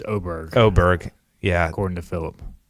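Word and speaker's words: Åberg: I like Ludwig Eberg, or however you pronounce his name. I learned yesterday it's Oberg.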